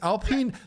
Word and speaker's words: Alpine: Alpine. That's how you pronounce the racing car.